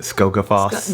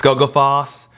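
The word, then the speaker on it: Skógafoss: And then that place called I forget how you pronounce it. Skogafoss. Yes. Skogafoss, and the waterfalls and the black sand beaches.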